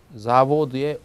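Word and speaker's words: завод: 그래서 공장이 있는 단어부터 제가 보면은요, 자보드의 오에 이제 강세가 있습니다. 그래서 읽을 때 자보드 이렇게 오 있는 부분을 길게 끌면서 분명하게 발음하면 됩니다.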